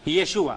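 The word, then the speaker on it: ישוע: ¿Cómo se dice? Yeshua. O Yeshua, ¿cómo Estamos se ahí. pronuncia? Yeshua. Yeshua.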